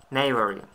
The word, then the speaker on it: knave: Англійські слова, де буква K не вимовляється.